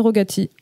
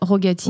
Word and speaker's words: Rogati: Voilà, tout, c'est Rogati. Rogati.